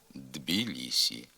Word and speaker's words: Тбілісі: слова самі стають дзвінкими пишеться боротьба молод ба просьба ось де футбол баскетбол Тбілісі а вимовляється бородьба молодьба просьба ось де футбол баскетбол дбілісі пишемо а як же